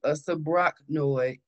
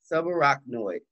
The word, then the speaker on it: subarachnoid: going to be um a sa noid uh I always get it I always pronounce this wrong uh snoid uh Hemorrhage which is bleeding around the brain subarachnoid hemorrhage okay acute stroke